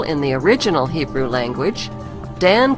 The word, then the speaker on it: Dan: Since vowels were interchangeable in the original Hebrew language, Dan could be pronounced Din, Don, or Den.